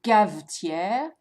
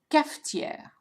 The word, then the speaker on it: cafetière: So notice the f sound. So it's not une cavetière, it's not une cachetière, it's une cafetière.